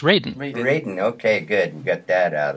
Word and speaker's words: Radin: thank you hi dr raden hello thanks for that introduction and by the way my name is pronounced raiden okay good get that